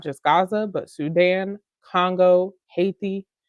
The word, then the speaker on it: Haiti: Gaza but Sudan Congo Haiti hati if you want to pronounce it correctly to gray all of